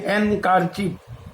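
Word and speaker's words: handkerchief: যেমন দেখো HAND, হ্যান্ডকারচিপ, হ্যান্ডকারচিপ মানে হচ্ছে রুমাল, কিন্তু আমরা যখন উচ্চারণ করব তখন হবে হ্যান্ডকারচিপ, এখানে কিন্তু ডি এর উচ্চারণটা হচ্ছে না।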